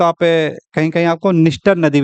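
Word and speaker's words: Dniester: निस्टर नदी, निस्टर। इंग्लिश में देखेंगे तो इसका उच्चारण डी से होता है, तो कोई लोग इसको डिनिस्टर भी कहते हैं, जबकि एन से पहले डी आपका साइलेंट हो गई है।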